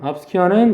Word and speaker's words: obscure: obscure는 역시 이음절에 강세 있고 모호한.